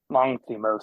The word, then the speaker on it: Lanthimos: Lanthimos.